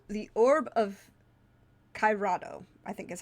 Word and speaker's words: Cairado: a relatively short book, called The Orb of Cairado, I think is how it's pronounced. It's Cairado.